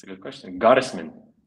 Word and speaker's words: Gottesman: Goddisman. Goddess. German name. And yeah, Goddisman.